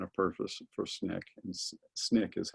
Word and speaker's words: SNCC: In fact, and you see this in this one, Jim Lawson, who wrote the statement of purpose for SNCC, and SNCC is how you say it, the Student Nonviolent Coordinating Committee.